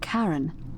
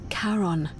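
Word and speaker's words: Charon: it's just as you described it only your pronunciation is a little off the name you heard wasn't karen it was c-h-a-r-o-n as in caron the ferryman of the dead karon who in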